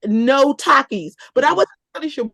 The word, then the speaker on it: Takis: Oh, someone said, okay, is it pronounced Takis? Mhm. Yeah. Because they were trying to eat those for breakfast. Are they like chips? I was No. like, oh, Takis.